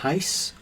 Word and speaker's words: reis: think it's a 20 reis. So it's a 20 reis coin. Reis is spelled R-E-I-S.